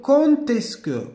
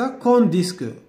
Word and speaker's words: quand est-ce que: وهنا عندما نجري لا ليزون لي كون فدي يتحول النطق هكا تي ونقول كونتيسكو كونتيسكو وليس كونديسكو كونتيسكو تي تو ريفي لو ماتان وتعني متى تستيقظ في الصباح.